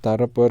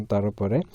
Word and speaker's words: Tarapore: Tarapore, so you can pronounce it as Tarapur or Tarapore.